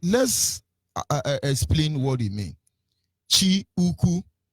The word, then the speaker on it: Chukwu: Chi Uku, because you can say Chu Uku, or we would regularly pronounce it as Chu Uku, CHO. But the real thing is Chi Uku, which is CHI.